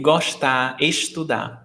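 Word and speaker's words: gosta: well here in fortaleza every s before a t is pronounced sh so that's why i say goshta but it's only the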